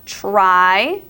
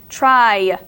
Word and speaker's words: try: is a y cylinder now we have try it sounds like the Y might sound like an e but it's spelled TR r y try try try and now we have